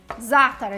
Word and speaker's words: za'atar: Za'atar is actually the proper way to say it, and it is epic if you haven't tried it.